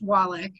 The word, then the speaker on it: Wallach: last name is um my last name is pronounced wallach which is holy charges okay snatch all the